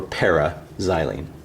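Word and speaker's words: p-xylene: In words, you still say meta. We wouldn't say M-xylene or O-xylene. We would say orthoxylene, but when we spell it, we just abbreviate with an O, or an M, or in this case, P for paraxylene.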